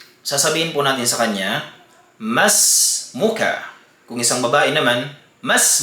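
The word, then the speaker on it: مَا اسْمُكَ: po natin sa kanya, mas muka. Kung isang babae naman, mas muki. Ang nakasanayan po natin ay sinasabi nating ma ismuka, ma ismuki. At iyan po ay mali.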